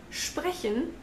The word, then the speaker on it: sprechen: For example, in sprechen, the S actually is a sh.